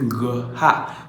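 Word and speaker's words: Gerar: Effectivement, le mot Guérard doit se prononcer Ngha. Le G c'est G et le Ra c'est Ha.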